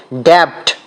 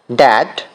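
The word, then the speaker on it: debt: আমরা এটার রং উচ্চারণ করি। ড্যাপট। কিন্তু এটার সঠিক উচ্চারণ হবে ড্যাট।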